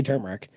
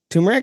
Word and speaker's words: turmeric: I say turmeric.